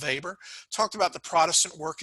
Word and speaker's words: Weber: here just know that max weber and it's pronounced weber talked about the protestant